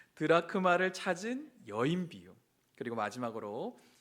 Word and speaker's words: 드라크마: 그리고 이런 드라마크라를 아 발음이라 안 되죠. 우리 오랜만에 오신 분들을 위해서 긴장했는 겁니다. 드라크마를 찾은 여인 비유.